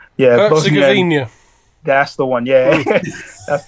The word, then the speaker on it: Herzegovina: That year, Bosnia has, I can't even pronounce the H. Yeah, Herzegovina.